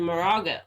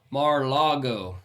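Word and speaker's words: Mar-a-Lago: No, he's down in Moraga, or how do you say Moraga? it? No, how do you say it? Mar-Lago.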